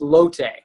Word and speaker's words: Lotte: with derek brewster director of revenue management at lot new york palace aka the palace a historic landmark in midtown manhattan how are you sir i'm great and it's actually it's pronounced lotte uh lote new york balance i knew you